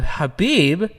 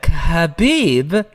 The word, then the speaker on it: Khabib: uh in abu dhabi his good buddy uh habib dude you almost said it wrong bro i always said khabib is also going to be in abu dhabi